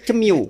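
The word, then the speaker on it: CMIIW: correct me if I'm Oh itu tulisannya cm i i w Ya betul Pak Oh itu bacanya cemu cemu Saya paling susah kalau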